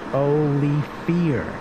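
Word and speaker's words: Olivier: And Rodney Olyate says, not this again, it's Olifir.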